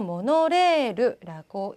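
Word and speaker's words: モノレール: 그 다음 모노레일 나왔는데요. 모노레르라고 읽습니다. 모노레르 좀 다르죠. 레일이 레르라고 읽힌다는 것.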